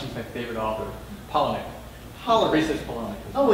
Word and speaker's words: Palahniuk: workshopping with none other than the legendary Chuck Palahniuk. See, I'm going to pronounce this. I just learned how to pronounce his favorite author, Palahniuk.